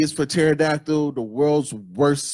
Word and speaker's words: pterodactyl: Pterodactyl is not started with a T. Pterodactyl.